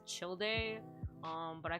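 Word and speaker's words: Childe: three names but um technically speaking the pronunciation is chill day um but i called child um and a lot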